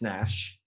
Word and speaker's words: Neusch: And I know that your name is pronounced Nash, but it's spelled Neusch.